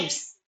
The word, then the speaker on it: lives: Lives இல்லம்மா lives. Pronounce it again. Life. Life, Lives. lives. அந்த V வரணும். அந்த V sound தெரியணும் நமக்கு.